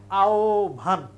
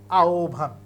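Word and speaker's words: আহ্বান: ও এবং উ যেহেতু হ এর আগে আছে তাহলে আমাকে এখানে ও লিখতে হবে তাহলে উচ্চারণ হবে আওভান আওভান এটা হচ্ছে উত্তর এটা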